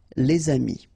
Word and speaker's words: les amis: If you've got a word after, and then it's starting with a vowel like this one, amis, friends, then you should make the liaison. Les amis.